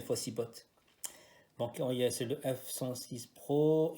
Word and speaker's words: Fossibot: Donc c'est le Fossibot, bon c'est le T se prononce, ça c'est pas Fossibo mais Fossibot.